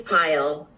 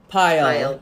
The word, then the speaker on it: Payal: Am I pronouncing your name right? It's Payal. Payal.